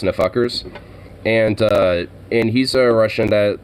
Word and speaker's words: NFKRS: Well, his channel is NFKRS, but it's pronounced Nfuckers, and he's a Russian